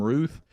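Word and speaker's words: Routh: His last name is is spelled what should be Ralph, but they're calling him Ruth. Uh, Ryan Wesley Ruth. Maybe that's how he pronounces his name.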